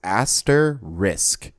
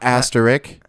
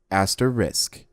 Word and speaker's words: asterisk: at how it's spelled it's aster risk that is how it's pronounced not aster not asterik not Asterix aster risk masters and that's Rick